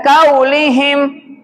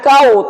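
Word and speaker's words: قولهم: Yang kelima, qau bukan qaulihim. Bukan kau, tapi qau. Hurufnya huruf po. Tinggal bukan kau. O tambah u, qau.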